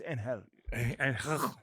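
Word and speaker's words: Ángel: It's It's Anhel. No, that's that's how you pronounce it, dude.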